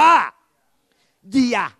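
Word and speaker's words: เยียร: 2 อ่าน พร้อม กัน ย ยักษ์ สระเอีย ร เรือ กะลัน อ่าน ว่า เยีย ถม ออก เสียง รอ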